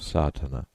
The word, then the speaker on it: Sadhana: word may be added about the pronouncing of satana the accent Falls decisively on the first a which has the broad sound of the letter contents one the relation